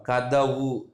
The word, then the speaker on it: கதவு: கதவு, கதவுல ரெண்டாவது எழுத்தாக வந்திருக்கு தா. ஆனால் கத்தவுன்னு சொல்ல மாட்டோம், கத்தவுன்னு நம்ம சொல்ல மாட்டோம்.